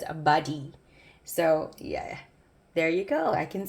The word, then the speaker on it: Bade'e: So supposedly this is pronounced correctly as Bade'e.